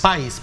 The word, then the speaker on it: PAIS: PAIS, porque PAIS. No le pusieron la tilde. Lleva tilde.